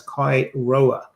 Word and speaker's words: Kai Roer: and also follow Kai on Twitter as Kai Roer. Don't ask, it's spelt how it's pronounced.